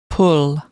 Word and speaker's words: pull: Entonces, ¿cómo debo de pronunciar? ¿Cómo será la pronunciación correcta? pull, pull, Ahora, vamos a fijarnos en el segundo símbolo fonético, que contiene, ¿no?